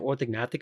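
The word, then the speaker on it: orthognathic: specifically with respect to orthognatic surgery yeah by the way seems s super silly question silent G or non-silent G orthic orthic it's a sound okay so it's like Gnostic yeah exactly okay thank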